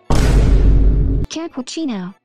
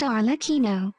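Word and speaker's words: Arlecchino: and her name is capuccino for the 10th time it is pronounced arino oh I'm sorry it's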